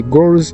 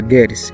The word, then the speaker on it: goals: Impamvu mvuze ngo sorry, iyi goals ari igihe uyivuga nabo ukavuga girls, kandi ntabwo ukavuga abakobwa aho kugira uvuge goals.